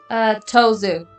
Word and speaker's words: Tosu: Tazu or Tozu? Tozu. Like almost Tozu, thank you. like tofu, but with a Z.